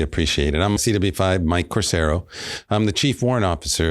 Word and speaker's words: Corsaro: last name fair enough my last name is pronounced corero corero okay give us a little bit of your